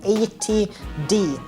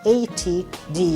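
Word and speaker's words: 80D: the one in the 8 D not add I know a lot of people say it like that but it's ATD you almost have to save it for the space in between but anyway the D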